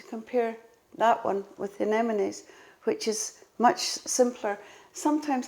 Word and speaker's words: anemones: And then we have another one Tom will drop in that, I can never say this word, anemones. Yes, anemones, yes.